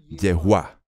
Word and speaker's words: Yahvé: Qué es su nombre el que conocemos como ya ve pero que verbalizado realmente se pronuncia como yegua Y esta es una de las muchas pronunciaciones posibles e inmediatamente después de